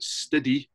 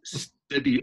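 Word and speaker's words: Stidi: So you've got Ginger, you've got CJ, you've got Stiddy, S-T-I-D-I. So that's not just my pronunciation. That's Stiddy on drums.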